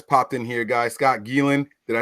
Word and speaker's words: Geelan: Scott Geelan.